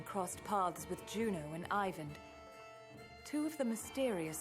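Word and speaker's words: Iver: him heycon and even I called him even and it's Ivan so I'm glad I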